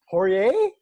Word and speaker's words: Poirier: And I've got a new friend on, and I didn't even ask him how he pronounces his last name. So I'm going to guess, and his name is Corey Poirier.